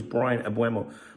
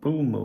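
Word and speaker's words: Mbeumo: I thought it was Brian Abu, but you actually pronounce his name um Bumo or something.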